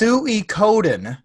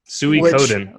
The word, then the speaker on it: Suikoden: It is actually pronounced Suikoden. Suikoden. Okay. As a dumb redneck like myself, I should have known the first 3 letters. That's how you call a pig.